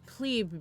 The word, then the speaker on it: plebe: But I should point out that it's plebe because it is short for plebeian. plebeian. Yeah, is the word. So that's It is the proper pronunciation, Yeah.